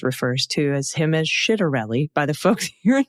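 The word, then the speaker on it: Ciattarelli: Pronunciation. The Irish political parties you mentioned are Shinfane and Fina Gale. Also the Republican candidate for New Jersey governor, Jack Chitterelli.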